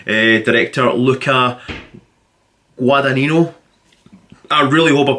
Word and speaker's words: Guadagnino: We know that it's directed by Call Me By Your Name director Luca Guadagnino. I really hope I pronounced his name right. Guadagnino. Pardon me, sorry. I think it's Guadagnino.